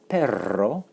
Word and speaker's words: perro: And of course, it's not to be confused with perro. Notice the trilled R because that's the word for dog.